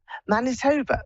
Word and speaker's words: Manitoba: is this Lori in um monit TOA Canada Manitoba that's it that's how you pronounce it hello hello okay okay my geography